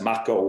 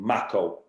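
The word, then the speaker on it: macho: That gets less macco with age, he pronounced it. He pronounced it macco.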